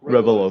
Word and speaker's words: Revello: You run Revello, is that right? Yeah, it's Revello Intel. Revello is Revello, Revello. The Latin word for reveal.